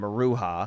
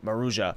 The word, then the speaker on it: Maruja: For the longest I was calling them Marua, but you actually pronounced the J in there. It's called it's pronounced Maruja.